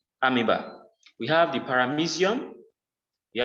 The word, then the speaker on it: amoeba: e b a amoeba some people call it amoeba but it is pronounced amiba we have the paramesium you have the euglina